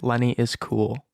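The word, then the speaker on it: Lenny Iz Cool: Just type Lenny is Cool. That is spelled I-Z, so Lenny I-Z Cool.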